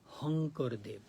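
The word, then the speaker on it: শংকৰদেৱ: India called Shankar but in Asamist language they pronounce honkurdev sha they pronounce as h.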